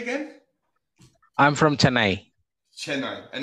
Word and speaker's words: Chennai: Chennai.